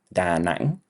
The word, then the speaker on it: Da Nang: Okay, so the first place on our itinerary is Da Nang, or in Vietnamese it would be pronounced more like Da Nang.